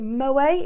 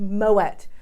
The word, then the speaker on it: Moët: Some people call it Moët, it's pronounced Moët.